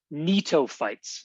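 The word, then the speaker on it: Gnetophytes: Netoightes. Netoa. So the G here is silent.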